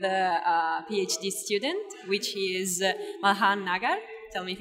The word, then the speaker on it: Malhar Nagar: We're here with a PhD student, which is MALHAR Nagar. Tell me if it's correct, the pronunciation.